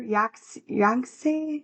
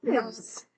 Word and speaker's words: Yangtze: Yangtze River? It is the 3rd largest river in the world. Obviously, I can't pronounce this shit correctly, but I'm trying my best. Kind of like Yahtzee, but young. Yangtze.